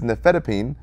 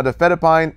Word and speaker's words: nifedipine: Our famous three that show up on tests is nifedipine, cardizem, and verapamil. Now, difedipine ends in D-pine, so D-pine rhymes with break time, calmed and relaxed heart, lower blood pressure.